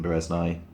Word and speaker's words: Bereznai: But yeah, I Want Superpowers by Stephen Bereznai.